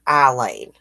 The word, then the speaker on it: Aileen: call her Aileen and I've heard people call her Eileen I think it may actually be pronounced Aileen saying thinks she should have